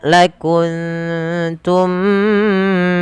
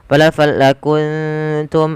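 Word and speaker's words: لَكُنتُم: Kemudian lakuntum minal khasirinfal lakuntum. Ada bacaan nun sukun bertemu ta diwarnai dengan hijau. Maka ini kita namakan dengan bacaan ikhfa. Maka cara membacanya samarkan suara nunnya ke huruf ta.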